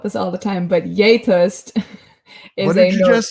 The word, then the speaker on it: gjetost: all the time, but Yetost. What did you just say? Yetost. It's so Norwegian. It's spelled GJETOST.